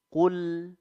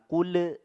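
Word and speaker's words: قل: digunakan jadi betul-betul bersih Qul Qul Ya jadi jangan quul ya ini sering sekali kita menemukan ada yang memantulkan huruf lam ya ya ini jangan sampai seperti itu bacanya jadi betul-betul bersih izhar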